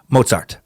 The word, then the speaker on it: Mozart: In the Einstein Timesuck, you pronounced Mozart incorrectly. I swear I'm not being picky and asking for the perfect German pronunciation. The Z is pronounced TS.